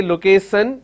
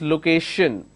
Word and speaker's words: location: So when you have sh, we don't have the sh here, but the pronunciation is sh. So don't say location, it's location.